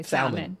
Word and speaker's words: salmon: from cuz my friends all my American friends say salmon yeah I'm like Sal so I used to say salmon as well I say salmon no all Americans say salmon salmon they don't say the LL really yeah I say